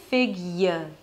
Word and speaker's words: figure: Then you switch to Y, so although you don't have any indication in the spelling that there is a Y sound there, because it's Y as